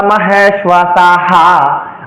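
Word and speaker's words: মহেষ্বাসাঃ: আমরা এটা পাঠের ক্ষেত্রে আমরা এভাবে উচ্চারণ করি অত্র সূরা মাহেসাহা আমরা এখানে হা উচ্চারণ করি কেন উচ্চারণ করি আমরা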